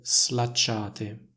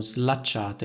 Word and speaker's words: slacciate: poi suono l slacciate Il problema è che queste parole non andrebbero pronunciate così ma andrebbero pronunciate nel modo seguente slacciare la cintura e mi si sono slacciate le scarpe quindi il suono della s in questo caso è più simile al suono della S intervocalica che troviamo in una